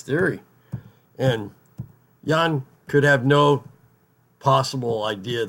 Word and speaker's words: Ian: I mean, it's bad enough with Jan, which it's spelled Ian, but it's pronounced Jan.